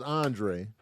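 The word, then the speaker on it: Andraé: of older school yeah his name is Andre yes a lot of times Andre people got hands and it's spelled a n d r a e extra so you got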